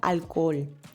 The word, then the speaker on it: Alkohol: Aquí quiero destacar la pronunciación de la palabra alcohol. En este caso, en español sabemos que la H no suena y diríamos alcohol. Pero aquí la H suena como una J en el alemán.